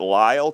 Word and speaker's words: Lisle: This was the good one from the LISLE, so I'm going to pronounce that Lyle Company, from Clarinda, Iowa.